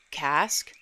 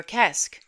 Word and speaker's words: Ceasg: Depending on the region and the retelling, you might hear it pronounced a few different ways. Cailleach, Cask, or Kesk.